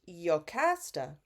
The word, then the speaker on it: Jocasta: at the crossroads and he tells Jocasta or in the ancient Greek it's pronounced yokasta that they should send